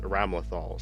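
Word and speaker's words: Ramlethal: Her name is Ramlthal or Ram Lethal is how it's spelled. But but the announcer in the game says Ramlthal, so I'll say Ramlaththal.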